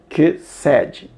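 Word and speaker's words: חסד: A palavra misericórdia se pronuncia kesed, tá?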